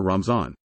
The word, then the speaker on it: Ramzan: In the Persian language, the Arabic letter is pronounced as z. The Muslim communities in some countries with historical Persian influence, such as Afghanistan, Azerbaijan, Iran, India, Pakistan and Turkey, use the word Ramazan or Ramzan.